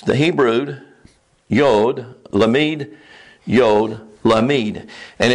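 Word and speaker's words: למד: It's the Hebrew yod, lamid, yod, lamid. And it's pronounced layil. Lamid. That's how that glyph is pronounced, lamid.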